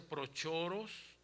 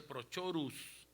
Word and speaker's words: Prochoros: En griego se pronuncia Prochoros y en latín se pronuncia Prochorus.